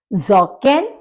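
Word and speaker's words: Socken: स्टीफेल स्टीफेल मतलब बूट्स जकन जकन यानी कि सॉक्स क्योंकि एस को ज जिसके नीचे नुक्ता लगा होता है उसकी तरह से बोलते हैं तो जकन सॉक्स ंटर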